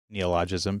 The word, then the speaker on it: neologism: But sonder is a neologism because it just basically was coined by that particular author that we talked about last time.